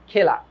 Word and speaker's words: খেলা: কিন্তু একটু চিন্তা করো তো, এখানে যদি আমি লিখি খেলা, এটার উচ্চারণ তুমি কি করছো? খেলা না খেলা? উচ্চারণ কিন্তু করছো খেলা। উচ্চারণ কি করছো? উচ্চারণ করছো হচ্ছে এই যে খে, তারপর লা।